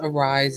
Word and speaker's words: Ari'ze: It's spelled AR'Ze, but it's pronounced Arise as in arise, from the Maya Angelou,